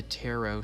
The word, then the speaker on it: tarot: and green here's the tarot stuff i'm saying it right this time taro even though the t's there for no reason palm reading fortunes